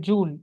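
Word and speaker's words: jewel: इसके लिए इसको बोलते हैं थ्री बैंडेड जूल। स्पेलिंग है ज्वेल। लेकिन उसका जो प्रोनाउंसिएशन है वह जूल है।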